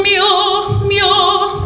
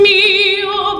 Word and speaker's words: mio: mio, that with Italian, we always emphasize the second last syllable, unless it's an exception. If it's got an accent on the end of the word, then we would accent the last.